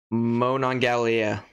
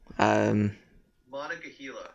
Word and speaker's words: Monongahela: Sam, I want to hear you try and pronounce that first one. Let me zoom in here. Monongalia. Monongahela.